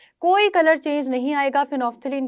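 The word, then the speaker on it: phenolphthalein: इसके स्पेलिंग में फिनोल और फिर थैलीन आता है, लेकिन आप एल भी साइलेंट कर दें तो फेनोफ्थलीन इसका ओरिजिनल नेम है।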